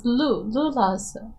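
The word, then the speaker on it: luhlaza: I would need this divided into syllables by dashes. Agreed, Minnie. So it's Lulaza.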